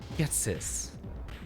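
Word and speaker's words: Ghetsis: guesses how to pronounce get sis it's all just comments on game packs yeah getsis is how his name is pronounced but the meme in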